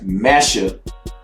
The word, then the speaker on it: Mecca: So that's very interesting that the word Mecca can be pronounced as Messa.